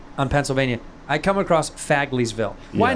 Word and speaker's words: Fagleysville: This is how you say it. Fagley. I said Fagleysville. You go, Fagleysville, get back in the closet.